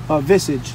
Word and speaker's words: visage: How you pronounce that? Visage.